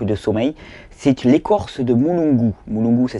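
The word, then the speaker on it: mulungu: c'est le manque de sommeil c'est l'écorce de mouungu mouungu ça s'écrit m u l u n g u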